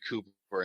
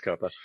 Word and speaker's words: Copper: Because I've been calling you Cooper instead of Copper, and I think I've been messing it up. Yeah, it's Copper.